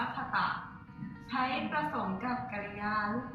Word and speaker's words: 方: และ เติม คาตะ ค่ะ ชั้น สี ตัว นี้ นะ คะ อ่าน ว่า คตะ ใช้ ประสม กับ กริยา